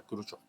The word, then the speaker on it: Khrushchev: Se escribe Khrushchev, pero siempre he sabido que se pronuncia Khrushchev, ¿no?